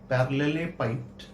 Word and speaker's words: parallelepiped: PARALLELEPIPED, पैरेललेपाइप्ड। अलग अलग लोग का अलग अलग प्रोनाउंसिएशन होता है, कोई पैरेललोपाइप्ड बोलता है, कोई पैरेललेपाइप्ड बोलता है, कोई पैरेलल पाइप्ड बोलता है।